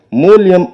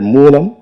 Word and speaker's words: மூலம்: அவர் பேசும்போது மூலயம் என்று மூலத்தை அவர் உச்சரித்தார். அப்படி உச்சரிக்கல் ஆகாது தம்பி மூலியம் என்றால் நிமித்தம் என்று பொருள். இனி வரும் மேடைகளில் நீங்கள் மூலம் என்கிற சொல்லை சரியாக உச்சரிக்க வேண்டும் என்பதை ஒரு வேண்டுகோளாக நான் இந்த மேடையில் சொல்கிறேன்.